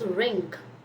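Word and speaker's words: wring: Then you have is ring. Ring is how you pronounce it.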